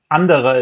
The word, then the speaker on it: Anderer: want to say it's Anderer. Again, apologies if I mispronounced that. Hello there. Congratulations on your second place finish. Hello, thank you. Anderer is the pronunciation in German, but never mind.